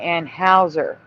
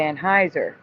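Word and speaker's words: Anheuser: They were saying Anne Hower instead of Anneheiser and I think it's because of the spelling because I remember the I to make it Heiser even though EU is probably pronounced Heiser in German.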